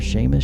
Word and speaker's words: Seamus: Whatever the case, in the Gaelic language, S-E and S-I are pronounced the same as an American English S-H.